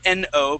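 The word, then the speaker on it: know: Not N-O, but K-N-O-W. So this word no, you would pronounce that W at the end, saying now. Okay. The word would be no. Okay, so I want you to kick out that K, kick out that W.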